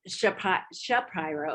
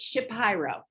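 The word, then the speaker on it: Shapiro: ago that it's not he doesn't pronounce it sha pyro it's ship pyro so like five seconds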